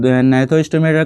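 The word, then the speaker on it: Gnathostomata: And then यहाँ पर जी silent रहेगा, नैथोस्टोमेटा, नैथोस्टोमेटा, ठीक है।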